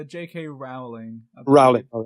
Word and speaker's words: Rowling: How do you pronounce that? It's J.K. Rowling.